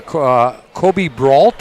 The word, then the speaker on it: Kobe Brault: the assistant general manager, Kobe Brault. Is that right, Kobe? I said it right? Yeah, you said it right. It's a bit of a weird spelling, but yeah, Kobe Brault, you got it right.